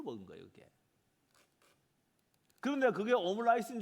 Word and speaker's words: 오므라이스: 이 오므라이스는요 라이스는 쌀 아닙니까? 이게 일본식 발음이에요.